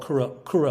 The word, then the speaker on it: Kura: so your company uh i don't know how to pronounce it k-u-r-a how do you say that oh so it's a non-profit i started called kura labs kura means row in swahili